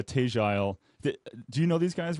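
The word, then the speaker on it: Tegile: say tagile it's t-e-g-i-l-e i want to say tigual together and he says we pronounce it like with a southern drawl and i would say oh you mean but he says something like uh tagile do you know these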